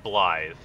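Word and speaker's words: Blaidd: I hate that his name is spelled like Blade, but said Blythe.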